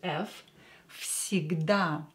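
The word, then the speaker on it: всегда: where I pronounced as f sigda because voiced consonant near unvoiced and S is unvoiced here will become unvoiced too so where will become F because it is located near s igda is always and the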